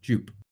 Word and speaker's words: Jupe: Can you explain, it's Jupe or Jup? It is Jupiter. Jupe. Okay, because I've been saying, I think the chat tricked me into saying Jup. I was like, yeah, but it's Jupiter. It's pronounced Jupe.